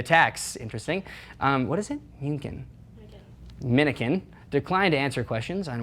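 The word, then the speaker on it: Mnuchin: Both Treasury Secretary Stephen Munchkin, is that his name? Oh, yeah, Munchkin. And do you know how to say it? Minikin.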